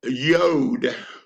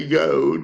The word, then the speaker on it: yod: Now, we come to one called Yod, Y-O-D, right here. It's the 10th letter of the alphabet, the Hebrew alphabet. It's spelled Y-O-D, and the Y is pronounced like the Y in yes.